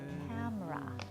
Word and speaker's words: camera: We're normally kind of squishing together the beginning and the end of the word